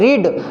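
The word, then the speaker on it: read: एक होता है रीड, रीड रेड, रेड पढ़ा जाता है लेकिन स्पेलिंग तीनों की सेम ही होती है।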